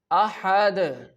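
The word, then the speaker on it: أحد: Ahad, ahad, ahad. Here you can see on the dal we are performing the qalqala.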